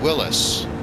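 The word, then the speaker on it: Willys: I think the company despite being spelled Willies w-i-l-l-y-s who's actually supposed to be pronounced Willis feel free to correct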